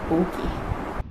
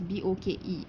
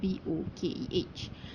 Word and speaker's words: bokeh: In Japanese, the term is spelled as B-O-K-E and not B-O-K-E-H. Mike Johnson added the H at the end due to Westerners pronouncing the word bokeh as bok.